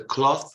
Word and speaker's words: cloth: When you speak of the panno, la stoffa, cloth, it's cloth. When you make the garments, i vestiti, it changes into a the, from th to the. So clothes. This is one of the most difficult English pronunciation, because you need to pronounce the and then the s.